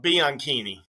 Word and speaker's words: Bianchini: Think of bikini, right? Bikini. Bikini. Bianchini. Bianchini.